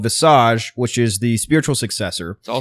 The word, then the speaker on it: Visage: it was Jareth's is the Americanization of it. I said that Visage. you could also pronounce it. Yeah, Oh, so okay. Mike and I were going in more the traditional French sense of the word.